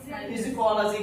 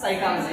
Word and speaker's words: psychology: यहाँ पर क्या है, पी को साइलेंट वर्ड में समझ रहा, इसको भी क्या बोल रहा, फिजिकोलॉजी बोल रहा। लेकिन इसका आंसर क्या आता, साइकोलॉजी आता।